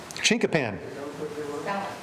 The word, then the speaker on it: chinquapin: Now, if you go further back east and want to become a little more sophisticated, it's Chinquapin.